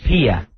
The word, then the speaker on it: Pia: All right, is this Pia on line 5? Is that the way we're pronouncing it? That is Pia.